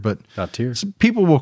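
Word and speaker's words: Brjánsdóttir: Dottir. I always thought it was like daughter, but no. I'm thinking it's more like Dottir, but Dottir.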